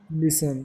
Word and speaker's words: listen: Listen. Listen. Listen. What is silent? T. T. T is silent.